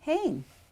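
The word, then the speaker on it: הן: Then they or them feminine is, it's got a tsere there. How do you think you pronounce that? How do you think you pronounce that? Tsere. Anybody want to venture a guess? Hey. Hain. Hain. It's a hey. Hain.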